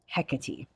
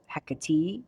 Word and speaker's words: Hekate: I'm only finding is it's either hecka or he8 so heck eight I mean both sound good to me but I'm but I naturally go and flow towards Hecate so that's how I'm going to say it and that's what resonates with me um now with all